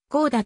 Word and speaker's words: 高田: か高田になり読み方も高き神の住居を意味する高田と読むには恐れ多いことからこうだと読むようになったと言う南側は田畑が